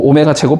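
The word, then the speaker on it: ω: 오메가세제곱은 1이고이 w 아니고 오메가라고 읽어야 돼. 오메가 그리스 문자야.음 음 뭐 오메가제곱 + 오메가 + 1은 0이다.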